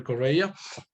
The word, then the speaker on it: Correia: correa i mean i know it is not easy to to read it to pronounce it actually that last name is kind of portuguese because my grandparents from the side of my dad are from portugal migrants in in venezuela so it's correa uh i'm a home